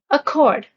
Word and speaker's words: accord: Accord. Accord, the stress is on the second syllable, means to grant or concede.